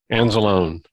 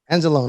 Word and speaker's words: Anzalone: Anzalone. Anzalone. Okay. I was going to say Lee at the end, but I'm glad you pronounced it for me.